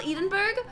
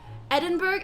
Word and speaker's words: Edinburgh: so kismet eat it is it not called edenberg what is it called you guys pronounce eden berg edinburgh edinburgh edinburgh edinburgh edinburgh about all the other